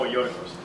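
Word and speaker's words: Γιώργος: Oh, Yorgos.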